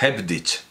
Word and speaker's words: Hebdige: le ha dicho lo he pronunciado mal desde el principio es headditch Perdón Big he quedado